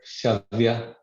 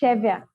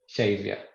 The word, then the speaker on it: Shaivya: Aji Shavya, how am I pronouncing it right? Good evening. Yeah, it's Chevya. Shaivya. Yeah. Yes, Shaivya. Actually, my business is into,